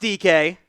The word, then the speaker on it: Dike: It is pronounced Dike. Don't be inappropriate. That is how it's pronounced.